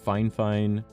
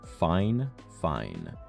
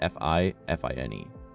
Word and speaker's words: FIFINE: it like fifine or Phi fine it's it's fine fine even though there's not an extra NE yeah definitely an awesome